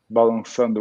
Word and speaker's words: Balançando: Actually, it's not like a C. It's like a cedille. Okay. So cedille pronounced like 2 S's, SS. Balançando, which means like grooving, moving.